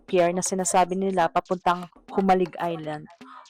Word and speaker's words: Jomalig: So ito yyung peer na sinasabi nila papuntang Humalig Island. Humalig Island is the right pronunciation.